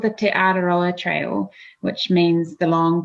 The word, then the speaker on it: Te Araroa: of the trail yeah so it's called the te araroa trail which means the long pathway in maori